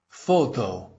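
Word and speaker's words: Фото: Photo. You'll notice that both the O's come out as O, which breaks that rule in Russian, but it's an imported word, and imported words often break that rule.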